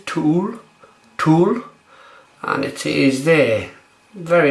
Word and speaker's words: To Øl: It's thank you to Jacob who helped me pronounce this beer, but I believe it's Tool, and it is there.